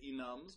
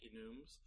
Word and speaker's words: enum: to talk about Ines I like to pronounce some Ines some people like to say enums but I like enes uh so enes are